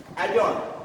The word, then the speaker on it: adjourn: D is not pronounced here. Here again, adjust, not adjust. Adjust. Adjourn, not adjourn. Adjacent, not adjacent. These words are pronounced with the ja sound.